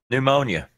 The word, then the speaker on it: pneumonia: more alert EU Oh pneumonia that's it there that one there is it a silent P or a silent n what P why the [ __